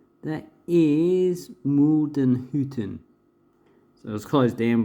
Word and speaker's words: Muldenhütten: That is Muldenhütten.